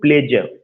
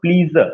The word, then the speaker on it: pleasure: They give delight and they bring प्लेजर। You don't have to pronounce प्लीजर, नॉट प्लीजर, प्लेजर। जब भी SURE आएगा तो आपको जा का प्रोनाउंसिएशन करना है। प्लेजर, मीजर, इस तरह का प्रोनाउंसिएशन निकलना है।